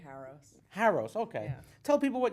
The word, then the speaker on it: Haros: Haros, okay.